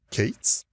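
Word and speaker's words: K8s: or also known as Kates so the letter K followed by the number eight so eight letters and then the number is and it's pronounced Kates so kubernetes is a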